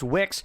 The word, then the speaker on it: WCKZ: WCKZ is pronounced Wix.